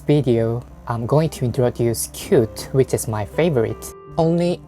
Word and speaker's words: Qt: before i start this word used to be pronounced as qt or cute whatever you pronounce this word it doesn't matter for using it but developers or cute framework they used to lead it as cute